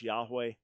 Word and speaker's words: Yahweh: The more likely pronunciation is Yahweh.